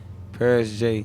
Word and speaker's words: Pearis J: father's side you know it's spelled different though you get can't forget the e is p-e-a-r-i-s-j paris j you hear me okay